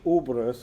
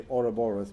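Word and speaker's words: ouroboros: path at the moment we often talk about the uberus or the oroboros but i like to call it uberus because there's something i like about the three syllables i don't like about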